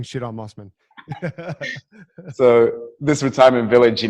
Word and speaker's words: Mosman: know mosman it is basically a retirement village mosman okay sorry yeah that's how you pronounce it there you go um you know